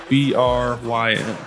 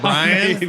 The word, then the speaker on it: Bryn: A new client, his name was, how would you pronounce B-R-Y-N? B-R-Y-N? Yeah. Brian, right? I went for Brian, and it was That's Bryn. what I would go for. I went for Brian, and it was Bryn.